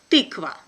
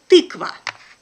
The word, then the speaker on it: тыква: Ты, ты, ты, ты, ты, тыква.